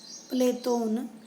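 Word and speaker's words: Πλάτων: प्लेटो के जो विभिन्न नाम बताए जाते हैं, ये अंग्रेजी का शब्द है प्लेटो, यूनानी उच्चारण है प्लेटोन, और इनका मुख्य जो नाम है एरिस्टोकलिस है और अरबी में अफलातून इन्हें कहते हैं।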